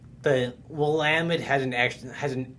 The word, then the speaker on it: Willamette: like willamette sometimes yeah if you're not from the area they'll say it like we'll limit or and if you're from chicago they'll probably say well matt i've heard that you